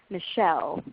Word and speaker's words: Michelle: Versus you could try names with the opposite pattern, like Michelle or Janine, where the stress is on the second syllable.